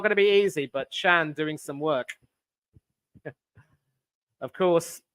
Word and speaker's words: Can: Maatsen has to come back and run, and it's not going to be easy, but Chan doing some work. Of course, his name is spelled C-A-N, but not pronounced Can.